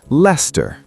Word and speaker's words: Leicester: Nope, Leicester.